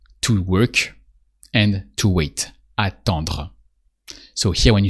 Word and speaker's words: attend: So same principle, you remove the dr sound at the end because here we are conjugating attendre, so we say attend.